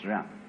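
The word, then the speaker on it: jen: I don't know what they are but it's pronounced gem and it's a character Chinese character that Confucius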